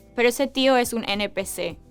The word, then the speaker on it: NPC: PEC se pronuncia como una palabra, pero cuando los jóvenes dicen NPC, pronuncian cada letra, NPC, o como en inglés, NPC.